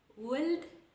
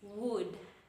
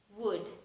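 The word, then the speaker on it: would: Wood? No, that is very wrong. It's wood, wood. The L is silent.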